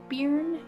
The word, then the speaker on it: Byrne: the magic by Rhonda I think it's pronounced burn be why are and those who don't